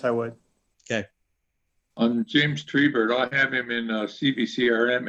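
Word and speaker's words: Treibert: I'm not sure how to pronounce it. He says it Tribert. So I'm going to go with his pronunciation.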